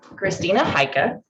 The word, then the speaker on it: Christina Heike: questions so a little bit more about christina christina haika whose name i often mispronounce but i'm now saying correctly is a